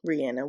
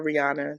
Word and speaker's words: Rihanna: Rihanna that's her name Rihanna We every America calls her Rihanna that's not that's not it's Rihanna and Barbados okay I remember there